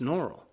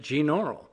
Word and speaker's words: Gnaural: and audacity and yes I know I'm pronouncing gene all wrong it's normal but I got into the habit of calling it gene oral so I hope you've